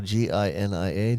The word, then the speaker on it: Genia: It's spelled like the last 5 letters of Virginia. So Ginia.